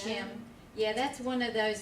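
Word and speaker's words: שם: It's Shem.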